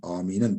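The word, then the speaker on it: آمين: Yani amin diye mim harfi şeddelenmez. O kelimenin mimi, aminin mimi şeddelenmez.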